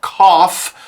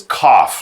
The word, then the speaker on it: cough: It's sort of spelled coug, but it's no, it's cough like coffee almost like that the first part of the word coffee.